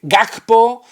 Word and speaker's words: Gakpo: Estamos hablando de Ligt, estamos hablando de Gakpo, que dicen que se pronuncia así, y luego lesiones físicas